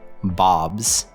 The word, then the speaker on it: Bob's: In both cases, the sound is a Z sound. In other words, you would pronounce Bob's as B-O-B-Z.